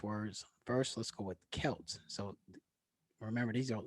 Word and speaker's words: Celts: words so this kelp the c is um is pronounced with the heart k you know so like how we think about the boston celtics is really pronounced celtic so also kel 1600